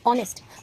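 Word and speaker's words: honest: एन आता है why because जो होनेस्ट का प्रोनाउंसिएशन है वो होनेस्ट नहीं होता है दिस इस ऑनेस्ट ओ ओ क्या है हमारा वर्णमाला के स्वर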